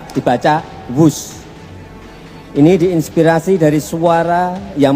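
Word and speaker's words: Whoosh: Sekali lagi W H O O S H tapi bacanya wus.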